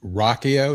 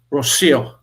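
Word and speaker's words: Rocío: Uh I believe the young woman's name was Rakio. Is that how she pronounced it? Rochio. Rockio. Rosio.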